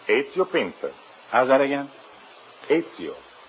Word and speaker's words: Ezio: Is that the way you pronounce it? That is right. Ezio Pinza. How's that again? Ezio. E-Z-I-O.